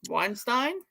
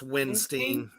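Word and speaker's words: Windstein: How do you pronounce his last name? Weinstein? It's Winstein.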